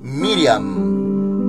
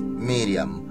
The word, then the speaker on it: Miriam: los judíos y en hebreo hermanitos María es Miriam Miriam y nosotros lo pronunciamos Ya se nos traduce en español como María pero en hebreo es Miriam Bueno entonces de paso se menciona que sí